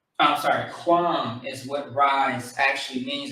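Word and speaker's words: QAM: I'm sorry, quam is what rise actually means in Hebrew. So Q-A-M means quam, which means to rise, like the sunrise.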